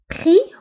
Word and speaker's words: prix: لشانتاج الابتزاز لشانتاج بخي prix هو الثمن le prix ثمن فأيضا prix تكتب x آخر الكلمة ولكنها لا تنطق نقول prix ثمن أو